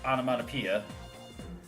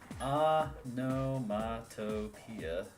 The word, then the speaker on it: onomatopoeia: How do you pronounce onomatopoeia? Onomatopoeia. Onomatopoeia, no. Onomatopoeia. Whoa, I didn't think you'd get it.